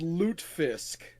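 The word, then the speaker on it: lutefisk: Yeah, it's spelled loot fisk.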